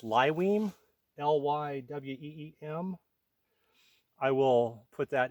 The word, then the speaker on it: Lyweem: a duffel bag the brand is uh it's pronounced lywine l-y-w-e-e-m I will put that in the description